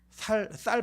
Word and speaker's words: 쌀: 살 팔았어? 뭐 얘기해요. 그죠? 뭔지 아세요? 쌀 팔았냐고, 쌀 가지고 왔냐고, 쌀 사왔냐고 이 얘기를 해요. 근데 이분들은 이제 쌍시옷 발음을 잘 못하세요.